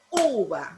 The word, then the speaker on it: uva: Por ejemplo, uva, ¿verdad? Uva. Lleva el acento en la letra U, ¿verdad? En la sílaba U.